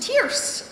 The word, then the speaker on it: Tierce: I'm now been F it's pronounced tearce as in Fierce and woe to the